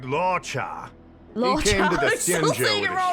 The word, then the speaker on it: Luocha: was it again laa his name is laa I always say it wrong I keep saying L Lucho laa okay that's right laa came to the with